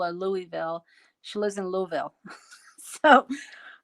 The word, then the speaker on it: Louisville: she lives and let me say this right louisville you can't say louisville or louisville she lives in louisville so i've been to